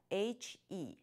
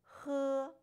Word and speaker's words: he: take a look at H E how should it be pronounced that's right it is pronounced who not he like you will pronounce h e in English now repeat after me